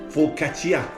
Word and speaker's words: focaccia: but it's focaccia. Just the way you pronounce it.